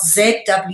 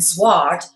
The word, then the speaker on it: zwaard: In English, a sword is obviously spelled S-W-O-R-D, but in Dutch it's spelled Z-W-A-A-R-D, okay?